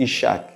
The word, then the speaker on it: Isaac: E que esse filho espiritual eles iriam dar de nome Isaac, que em hebreu pronuncia-se Ishak.